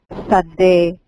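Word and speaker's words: שָׂדֶה: La mayoría de las palabras hebreas se acentúan en la última sílaba. Como sabe, Sabá, campo. sabá, sadé, sí.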